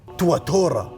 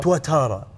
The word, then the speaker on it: Tuatara: SSC تواتورا. هذا اسم ديناصور. بس النطق الصحيح مالها الصحيح أيوه. تواتارا.